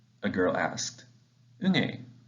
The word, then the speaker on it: Unhei: new here what's your name a girl asked unai said the girl asked scrunching up her face the kicks chanted no no name corrected it's spelled u-n-h-e-i it's pronounced uni oh it's the boys say like you hey